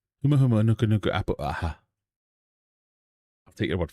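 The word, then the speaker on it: Humuhumunukunukuapua'a: Oh, we have a pronunciation. It's a High School Musical song. Humu humu nuku nuku apu a a. Huma huma nuka nuka apple.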